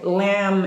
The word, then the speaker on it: lamb: Okay, lamb is one, and the first one is comb.